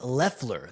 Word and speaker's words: Loeffler: I guess it's pronounced Loeffler. The O is silent, it says.